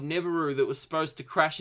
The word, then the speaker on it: Nibiru: phoebe fo b so i don't know what i'm talking about there it's spelt ni b iru so I'm gonna go with Nibiru Nibiru Nibiru I don't